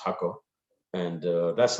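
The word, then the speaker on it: Jacó: in a place called hako which is about an hour and a half drive from uh an hour and 15 minutes strike from san jose and uh it's jaco but it's actually pronounced hakko and uh that's like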